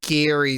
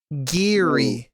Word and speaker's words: Geary: It's Gary. It's not Gary. I said Gary. Geary. Like gear?